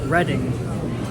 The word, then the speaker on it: Reading: at first I thought it was pronounced I pronounced it as Reading Terminal Market then a local told me that it's actually pronounced reading like in Philly they pronounced they pronounce it